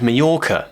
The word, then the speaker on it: Mallorca: to an island called Mallorca, a Spanish island. Now I'm sorry Spanish people if I am pronouncing that wrong. That's how British people pronounce it, at least.